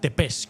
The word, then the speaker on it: Țepeș: hay que decir que la pronunciación sería Vlad Tepes, como si terminase en SH, ¿no?